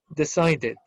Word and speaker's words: decided: Finaliza con un sonido de decide. Entonces, se le agrega id. Esta pronunciación sería decided.